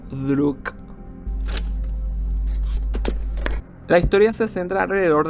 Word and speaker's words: Друг: La criatura recibe su nombre de la palabra rusa para amigo, pronunciado como Druk o Druk.